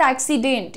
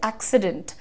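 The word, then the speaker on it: accident: और बहुत बड़ी जनता है जो एक्सीडेंट बोलती है, बट इट इज नॉट एक्सीडेंट, इट इज एक्सीडेंट। डेंट, light रखो, ठीक है।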